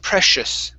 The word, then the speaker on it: precious: Okay, the CE, whenever you have those together, they create an SH sound. So instead of precious, it's precious. Precious.